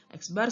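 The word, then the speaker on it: x̄: Nah, biasanya dilambangkan dengan X bar, bacanya X bar. Jadi X terus di atasnya ada garis.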